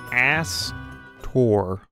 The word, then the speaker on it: Aster: And no, I did not mispronounce his name. That's his name, Astor.